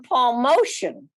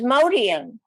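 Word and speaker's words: Motian: they were calling them paul motion i said no his name is modian but it spelled very similar to motion so i came back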